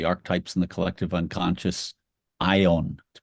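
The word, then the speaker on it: αἰών: Yung is the archetypes and the collective unconscious ion to pronounce it in Greek an eternal reality right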